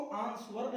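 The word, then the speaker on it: answer: Guys इसमें डब्ल्यू है ना, साइलेंट रखेंगे इसको, आंसर नहीं आंसर, दोनों का मतलब उत्तर देना, जवाब देना।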